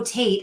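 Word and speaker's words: טית: The number or the letter for this month is Tate, and the pronunciation is T as in tall and rhyming with mate, which is interesting. I know, I just thought it was Tat.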